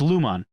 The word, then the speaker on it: Lumon: in this company lumos it sounds like lumos which is the harry potter spell it's lumon and they've perfected this